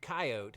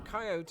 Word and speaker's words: coyote: two things number one some Americans might opt for the dismissive two syllable approach when another pesky coyote has gotten into the barn again and number two coyote appears to just be the predominant pronunciation out west oh and speaking of